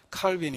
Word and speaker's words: 칼빈: 이어갔던 사람이 그 유명한 칼빈 입니다 칼빈은 아 영어식 발음이 고 원래 프랑스 사람이니까 칼 100 이렇게 알려져 있기도 합니다 자 아무튼 이렇게 해서